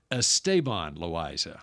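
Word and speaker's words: Esteban Loaiza: was doing Ranger games we got word that estaban loisa wanted his name pronounced estaban loisa okay so we start calling him estabon loisa and then the next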